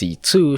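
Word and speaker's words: C.C.: a mysterious girl named CEC is somehow pronounced C2 shows up just in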